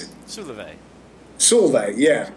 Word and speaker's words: Solveig: Yeah, Solveig. That's how we pronounce it. Solveig.